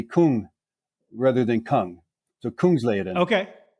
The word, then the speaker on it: Kungsleden: mistake but be Kung rather than kung so Kung leaden okay k k Kung is King lead is